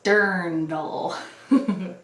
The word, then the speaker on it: dirndl: actual vintage dirndl and yes that's how it's pronounced if you've ever wondered now you know it's dirndl alright so here's my dirndl this I think was this I didn't really